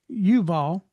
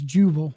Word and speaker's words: Yuval: 21, the name of his brother was Yuval, and as some actually pronounce that as Juval.